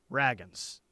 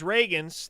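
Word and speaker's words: Ragins: I noticed that during the teleconference today, it's not a big deal, I just kind of noticed it, Brent said Raggins, Zion Raggins.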